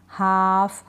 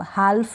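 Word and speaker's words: half: नहीं हो रहा एल क्या है यहां पर साइलेंट है काफ हाफ अब हाल्फ नहीं पढ़ेंगे य नहीं पढ़ेंगे हाफ पढ़ेंगे यक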